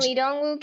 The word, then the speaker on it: Lee Dong-wook: Is that how you pronounce his name in this film? In Oh this, yeah, Lee Dong-wook.